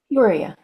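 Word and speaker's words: Peoria: Is it Peora? Puria. Yep. Every single vow pronounced.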